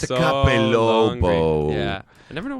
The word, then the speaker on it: Capelobo: And I say, the Capelo is my boyfriend. What's that mean? You didn't even say it right. The Capelobo.